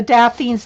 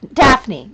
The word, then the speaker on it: Daphne: have the color book The Daffin I think they only I think it's Daffin Daffin D daffne Daphne's diary I always say it wrong Daphne's diary has a